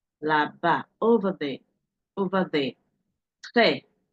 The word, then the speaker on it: très: Très, très. Can you see how I'm pronouncing the E here? Because it has a sound graph on it.